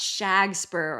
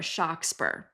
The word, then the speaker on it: Shakespeare: Okay, yes, there was a man from Stratford-upon-Avon named William Shakespeare, although it might have been pronounced Shag-Speare or Shock-Speare.